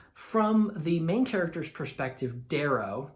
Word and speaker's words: Darrow: the main character's perspective, Darrow. Daro, depending on how you're going to pronounce it, but Darrow is how I read it in my brain.